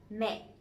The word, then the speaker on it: mẹ: But this one has the dot, the dấu nặng, the strong tone, so it has to be down and it has to be stronger a little bit.